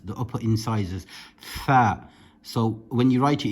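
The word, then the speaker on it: ثاء: The tha is pronounced with the tip of the tongue touching the upper incisors, the upper teeth, the upper incisors. Tha.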